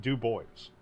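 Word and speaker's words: Du Bois: am sorry French speakers he pronounces it do boys deal with it that's that's him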